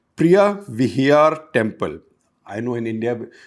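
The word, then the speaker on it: Preah Vihear: after ankor Vat a very important temple called Priya Vhyar Temple. I know in India we'll tend to pronounce it as Vihar but it's spelled Var.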